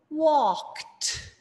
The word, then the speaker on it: walked: So we say walk, walked. One syllable. We're not adding another syllable.